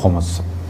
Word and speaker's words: خمس: الطاہرین۔ موضوع گفتگو خمس۔ عام طور پہ خمس کہا جاتا ہے، لیکن جو صحیح تلفظ ہے وہ ہے خمس۔ اگر کسی چیز کو